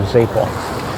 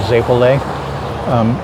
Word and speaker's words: zeppole: Joseph's Day, everyone has to get a Zeppole. I think in most places they pronounce it Zeppole.